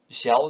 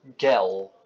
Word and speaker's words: Gel: De G, zoals bij ons, wordt totaal op zijn Duits totaal anders uitgesproken in dit woord. Waar wij dus gel zeggen, zeggen ze op zijn Duits gel.